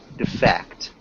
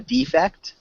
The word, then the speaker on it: defect: instead of the noun so there are two pronunciations a defect and defect so this would be the noun and this is the verb and a problem to